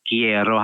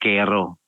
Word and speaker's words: quiero: Ang pronunciation niya guys ay quiero ha, kie. Kie, hindi ke. Na meron kasi kung narinig quero. Quero, hindi quero, kie.